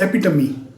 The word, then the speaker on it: epitome: Next word is epitome. Epitome, इसकी pronunciation पे ध्यान रखना, इसे गलत कई बार बोला जाता है, प्रोनाउंस किया जाता है।